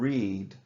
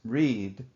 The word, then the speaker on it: read: every Monday she reads the past tense of read is read notice they are spelled the same present tense read past tense read what does she do